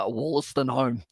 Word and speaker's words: Wollaston: But now it is going to be fed in there by Sam Wollaston is the pronunciation.